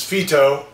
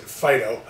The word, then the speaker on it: Phyto: a shampoo give a review of this is Fito even though many people pronounce it Fido which drives me crazy how does a dog's